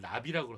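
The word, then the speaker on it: נביא: 여러분 한번 따라해 볼까요 선지자를 납이라고 하거든요 나비 펄펄 날아다니는 나비하고 발음이 같아요 나비에서 나온 단어예요 그래서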